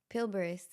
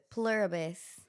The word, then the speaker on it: Pluribus: Pilibus. Pluribus.